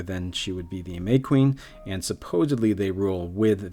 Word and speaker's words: Mequin: Oh, it's actually pronounced May Queen, shortened from the Hea May Queen, illustrious queen, and